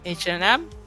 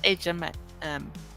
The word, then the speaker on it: H&M: And when it comes to H&M, it's not H&M, it's a Swedish company too. It's H&M, or in the longer term, like the original was before they did it shorter, is Hennes & Mauritz.